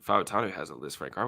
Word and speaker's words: Fautanu: And to be honest with you, I was saying Fatanu, but it is Fautanu. That's how you say it.